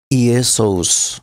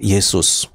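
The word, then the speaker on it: Ἰησοῦς: Di sini saya membacanya secara letterl Yesous. Tetapi sebenarnya di dalam gramatikal kita juga dapat menyebutkannya sebagai Yesus. Nah, Nestel Alan 28 dan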